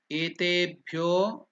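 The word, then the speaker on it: एतेभ्यो: Then etebhyo, etebhyo, that bha, ba, bha, bhyo. So that is also Mahaprana. So it is not bhyo. You should not tell bhyo.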